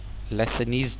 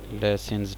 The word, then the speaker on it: Lassaigne: Might be की pronunciation मेरी गलत हो, स्पेलिंग में लिख देता हूँ, LASSAIGNE और ऊपर एप्स्ट्रॉफी के साथ ऐसे, लेसनीज टेस्ट है ये, जो पता नहीं लेसन्स टेस्ट है, जो भी है।